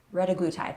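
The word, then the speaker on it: retatrutide: Then we have I don't even know how to say it, retaglutide? Retaglutide.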